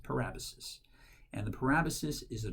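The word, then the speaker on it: parabasis: parabolas it looks like para basis but it's pronounced per Abbas's and the parabolas is a direct address to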